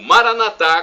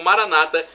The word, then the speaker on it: Maranatá: E agora do aramaico eu clamo Maranatá, como dizemos nós católicos, ou Maranata, como dizem nossos irmãos separados, os evangélicos ou protestantes. Não importa a pronúncia, o significado é o mesmo, do aramaico para o